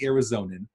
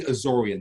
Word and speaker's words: Azorean: It's not the Arizonan.